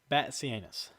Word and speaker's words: Batzianis: It is spelled Batzianis, but it is Batsianus.